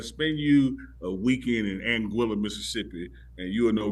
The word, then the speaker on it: Anguilla: Strain on my face here America andilla Mississippi Anguilla Chris that's cor yeah angua okay he he challenged me to pronounce it uh you spent some days nights in Anga before NE yeah man Anga look let me